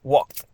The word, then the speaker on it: walked: Walked is t, it's walked.